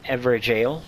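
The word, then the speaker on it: Evergaol: After you light that up or use that stone sword key, you enter the Ever Jail. It is pronounced jail.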